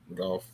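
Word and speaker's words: Gauff: just got it's like it's like golf but you just don't pronounce the L it's like yeah true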